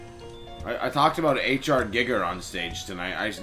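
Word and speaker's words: Giger: last night a lot of people call him Geger and I looked it up and I listened and it's pronounced gigger which is way too close to another obvious word.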